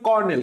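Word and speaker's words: colonel: মানে হচ্ছে এখানে কর্নেল আমরা উচ্চারণটা করি কর্নেল কিন্তু স্পেলিংটা হবে কি কলোনেল খবরদার ডাবল এল ডাবল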